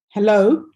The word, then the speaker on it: hello: For example, if you have a word such as hello, you know that there we put the stress on the second syllable, okay?